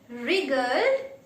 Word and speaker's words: wriggled: The smallest fish in the school wriggled. What is this? Wriggled. W is silent here.